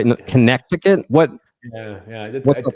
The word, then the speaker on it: Connecticut: I often spell the state that I've now lived in for five years incorrectly as a result of that silent C.